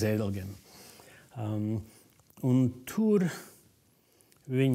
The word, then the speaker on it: Zedelgem: All the legionnaires called it Cedelgem because of the German pronunciation, but it is Zedelgem.